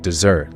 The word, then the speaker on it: desert: And that but then to desert or abandon is spelled like desert but it's pronounced like dessert, like the sweet treat.